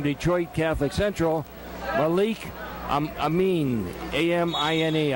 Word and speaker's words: Amine: And he's going against the number 2 seed from Detroit Catholic Central, Malik Amin, A-M-I-N-E. I believe it's pronounced Amin.